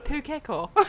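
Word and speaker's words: pūkeko: How do you say it? I was like, well, he gave me time to speak. Pukeko. He's like, yes, that's right.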